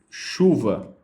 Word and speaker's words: chuva: A palavra de chuva, ela tem 1, 2, 3, 4, 5 palavras, porém, ela só tem 1, 2, 3, 4 fonemas, tá? Por quê? A sequência CH, essa sequência CH aqui, embora ela seja composta de duas letras, ela representa apenas um som, tá? Então isso é muito importante. Então nesse caso a palavra chuva, ela tem 4 fonemas e 5 letras.